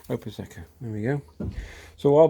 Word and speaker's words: Prosecco: How do you pronounce that? Prosecco. Oh, Prosecco.